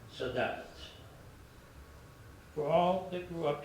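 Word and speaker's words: saudade: The word is spelled s a u d a d e and it's pronounced sad.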